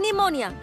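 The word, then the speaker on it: pneumonia: अंग्रेजी में एक बीमारी का नाम मैं जानती हूँ, निमोनिया। शुरू होता है पी से।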